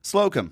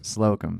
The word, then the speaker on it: Slocum: Slocum. Slocum.